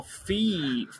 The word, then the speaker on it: Fi: is wireless fidelity it is phi sorry well fee from skyward sword is pronounced feet of the two of us i